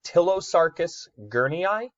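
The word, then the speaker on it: Ptilosarcus gurneyi: with me here is tillow Sarkis ger me I so its tillow Sarkis gurney I you do not pronounce the P on that one um what is unique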